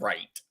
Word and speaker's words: Wright: But it is spelled WRIGHT. Right. So The Wright brothers. right. Yeah, But what I'm trying to say is that people don't know how to pronounce that either because the W throws them off.